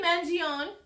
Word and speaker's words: Mangione: should do it okay Luigi Manion is how you pronounce it man man yeah man